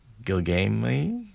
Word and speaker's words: Gilgame: How I wish I'd listened to Gilgam Gilgamey? Gilgame is how they say it in the audiobook. Okay. Yeah. Almost makes me think of Gilgamesh.